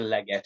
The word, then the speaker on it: Leggat: Ashley Leggat, excuse me, Leggat. Sorry, because it sounds kind of French, so It sounds much poshier when you say it like that, though.